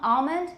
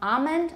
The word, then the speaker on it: almond: that's sorry that's pronounced but palm almond can either be palm almond or palm almond i tend to have something of a dark l i have velourization so